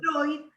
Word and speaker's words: Freud: Bloiler, como Freud se escribe Freud, y se pronuncia Freud, los nombres alemanes que van, o los sustantivos o palabras que van EU, se pronuncian hoy.